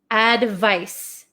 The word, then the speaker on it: advice: This is advice. Advice. So this makes like an S sound, advice.